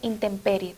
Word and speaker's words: intemperie: Pero gracias a su corrección vamos a utilizar siempre correctamente intemperie, una M antes de la P.